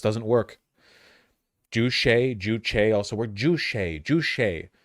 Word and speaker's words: Juche: Juche. I keep wanting to say Jusha, like Juche or something like that, but that's not right.